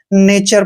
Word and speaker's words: nature: जैसे NATURE, यहाँ पर भी टी के बाद URE आया है तो इसको हम नेचर पढ़ेंगे, ठीक है। तो यहाँ पर टी का उच्चारण चे किया है, नेचर। नेचर क्या होता है, नेचर प्रकृति होता है।